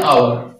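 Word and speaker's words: hour: An honest man অ্যান আওয়ার, এখানে খেয়াল করেন, অনেস্টের পূর্বে অ্যান, আওয়ারের পূর্বে এন, কিন্তু হর্সের পূর্বে আবার এ, এটার কারণটাও প্রায় এটার মতোই। এখানে এইচ এর উচ্চারণ কিন্তু এইচ হচ্ছে না, অনেস্ট আওয়ার, আর এখানে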